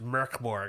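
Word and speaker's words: Mörk Borg: death metal game ohg Mor Borg and uh it's actually pronounced M Borg I think MBG uh but you guys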